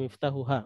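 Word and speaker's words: مفتاحها: Ini di sini harus hati-hati cara membacanya. Walaupun kita sama membaca tetap akan dipahami ya. Hadza miftahuha, miftahuha.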